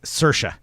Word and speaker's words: Saoirse: know si o RS ie Ronan Saoirse alright Saoirse Ronan now we all know we've all learned